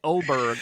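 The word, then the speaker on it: Åberg: but you pronounce it Oberg. I guess the thing over the A makes it sound like a O.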